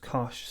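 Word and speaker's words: cosh: sine and hyperbolic 10 sometimes pronounced cache cinch and tench so we'll define the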